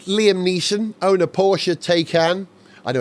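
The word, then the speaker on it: Taycan: these but does Liam niss own a Porsche takan I know it's pronounced taan and if nominative determinism does work in cars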